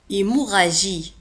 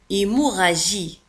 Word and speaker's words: hémorragie: نزيف hémorragie hémorragie hémorragie. لاحظوا كذلك على أن hémorragie تكتب ب 2 R R R A G I E. لا نقول hémorragie G I G مع I تنطق J وليس جي.